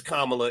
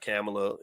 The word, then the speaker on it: Kamala: this okay so yeah it's kamla it's not camela you know let's pronounce her name right why not I mean